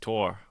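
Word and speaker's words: Tours: I can't pronounce but it's spelled ture oh yo you are I think it's just tour tour and for for the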